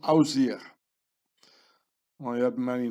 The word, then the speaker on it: Osiris: The name of Osiris was pronounced Ausir.